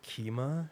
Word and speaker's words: Kyma: He had a little like electronic music lab with some cool synths, and there was something called Kima.